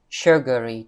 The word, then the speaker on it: sugary: cái gì đó ha sugary drinks này cái này nhìn là s nhưng đọc là chữ S dài nha chữ sung sướng v Việt nhìn thổ